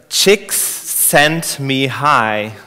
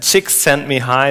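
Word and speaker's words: Csikszentmihalyi: writes that he's pronounced uh Mii and then chicks sent me high so if if you pronounce it English and chicks sent me high that's something I can remember okay so he's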